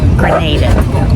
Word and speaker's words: Grenada: First, the only one we have Grenada. We're going to pronounce it with a long A.